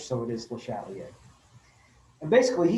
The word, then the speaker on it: Le Chatelier: that it's very french it looks like it should be pronounced the chandelier um in english but uh it's french so it is le chatelier and basically he said